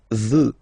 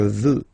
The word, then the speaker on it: veux: Vouloir, first person, je veux. Final X not pronounced. Je veux.